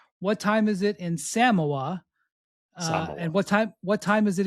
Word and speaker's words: Samoa: thought it was called Samoa, but they pronounce it. I'm not even probably getting it right. They pronounce it Samoa. More of like an emphasis on the first syllable.